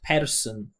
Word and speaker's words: person: including a vowel here when a native speaker pronounces this word they do not pronounce this vowel and they do not